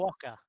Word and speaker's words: quokka: And that is the entirely wrong pronunciation of that. How is it? What is it called? It's a quokka.